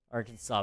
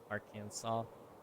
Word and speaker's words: Arkansas: I mean, it is spelled that way, but it ain't pronounced that way. Why not just spell it Arkansas?